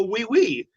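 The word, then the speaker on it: oui: O y is oi. Yeah, oi. Y. But it sounds like w.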